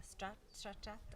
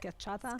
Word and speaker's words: schiacciata: And I'd love for her to tell us about the stracciata. How do you say it? schiacciata. Schiacciata? Schiacciata.